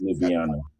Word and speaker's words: Ljubljana: That's how I pronounce it. Ljubljana.